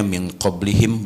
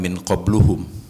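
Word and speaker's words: مِن قَبْلِهِم: walladzina tabah itu secara bahasa ada pertanyaan Kenapa dibacanya min qoblihim bukan Min qobluhum Kenapa dibacanya Min qoblihim kenapa bukan Min qobluhum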